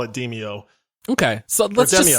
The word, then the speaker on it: Demeo: be talking about a game that is apparently pronounced Demeo, which I learned today. I'm not calling it Demeo, by the way. So we have been calling it Demeo for literally months.